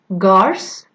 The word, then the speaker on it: gars: For example, gars, it has a different pronunciation, which is ga, it means lad, contrast with gant, and we pronounce it ga, which means gloves.